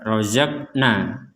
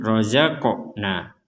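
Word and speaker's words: رَزَقْنَا: Di sini ada huruf qaf yang bertanda sukun, maka dibacanya itu adalah mentalkan atau dipantulkan. Jadi kita tidak hanya membaca rozakna, tapi dibaca dipantulkan rozaqna.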